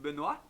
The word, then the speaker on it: Benoit: He's called Benoit. It's a French name. We're talking to Benoit from France. Maybe you can ask Benoit to say hi and quickly introduce himself. Okay, Benoit? Hi, I'm Benoit. You pronunciated my name correctly, so congratulations.